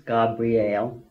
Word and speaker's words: Gabriel: day when literally, Gabriel, which is all mispronounced by the way, it's Gabriel, not more poetic too?